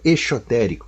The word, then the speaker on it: exotérico: ao Esotérico é o exotérico com x né pronuncia-se o x como x mesmo porque se pronuncia como Z fica Esotérico com s né nem exotérico né